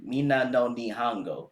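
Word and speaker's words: Minna no Nihongo: Mina no Nihongo. Yes, and I pronounced it correctly for you.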